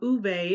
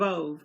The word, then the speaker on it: Ove: In a previous video, I called it the book of Ove because I didn't know I was, mispronouncing the name. But from what I understand, it's the book of a man called Uwe. Sorry, a man called Uwe, O-V-E.